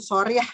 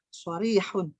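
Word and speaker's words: صريحة: Cuma Itu sorry ya, itu soriyah ya, bukan pakai kho, pakai ha. Soriyahun.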